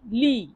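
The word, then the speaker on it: lì: তাহলে সেখানে এর ইতালিয়ান অর্থ হবে লি লি লি লি মানে সেখানে দেখুন এল আই লি এল আই এর উচ্চারণ কি হবে লি তাহলে লি মানে সেখানে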